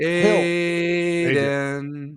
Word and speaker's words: Adin: Well, it'd be Adin. Oh, it's Adin.